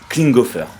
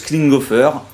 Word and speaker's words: Klinghoffer: complètement bas qui est cet homme c'est josh klinghoffer voilà j'ai réussi à dire son nom pour la première fois depuis dix ans je le prononce c'est c'est josh klinghoffer moi je les ai connus via les red